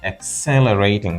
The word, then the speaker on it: accelerating: something quickening means accelerating not accelerating but accelerating with the stress on the second syllable and to accelerate is